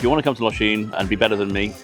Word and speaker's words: Lošinj: Lshin itself a lot of people pronounce it as Los but it's Lshin.